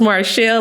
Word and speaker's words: Marchelle: better thank you Jazzy name is pronounced Marshall like seashell no biggie thank you marchelle to get a role